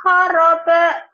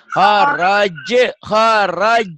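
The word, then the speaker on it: خرج: Wa min haisu kharab tawal. Kharaj bukan kharab. Kok jadi keba? Ya Pak Ustaz. Wa min haisu kharab je. Kharaj. Ja, jiji. Bukan kharab.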